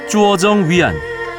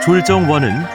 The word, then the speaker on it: 拙政园: 쭈어정 위안. 한국식 발음으로 졸정원은 수저우 4대 정원 중에서도 첫째로 꼽힌다.